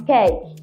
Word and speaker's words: cake: So consciously I tell myself, you're not saying A in cake. The right English pronunciation or the right sound pronunciation at the middle is A. So I can now say A. So when I want to pronounce that word, it becomes cake.